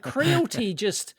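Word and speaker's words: Creality: No, but I've got Crealty. Is that how you pronounce it? That's right. Yeah.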